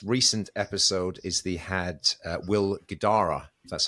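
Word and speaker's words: Will Guidara: but the most recent episode is the had Will Gdara that's how you pronounce it the author of the book which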